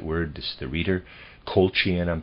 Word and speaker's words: Colchian: Colchian, I'm pronouncing it C-O-L-C-H-I-A-N, Colchian.